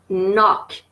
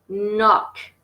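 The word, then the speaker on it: knock: y voit ses impôts nok encore une fois il ya un coq qui ne se prononcent pas nok soyouz nope under no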